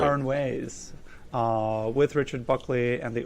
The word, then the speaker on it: Aranjuez: He gave his first recital at 12, and at 17 performed the Concierto de Aranjuez, that's right. Aranjuez, with Richard Buckley and the Oakland Symphony Orchestra, who has performed in Europe, South America, and the Caribbean.